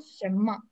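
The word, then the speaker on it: 什么: А там же Н... А почитается как М? Шэмма, да, шэмма.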